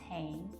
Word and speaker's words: Hain: My name is Hain. It's pronounced like Jane with H.